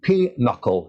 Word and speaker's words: pinochle: It's pinochle, isn't it? And it isn't spelled anything like that, but I believe that's how it's how it's pronounced.